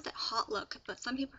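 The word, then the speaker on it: HauteLook: look I pronounce that hot look but some people pronounce that old look but I like to say hot look because it starts with an H and it's a website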